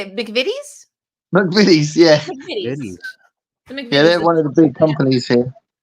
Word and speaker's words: McVitie's: McVitie's, yeah.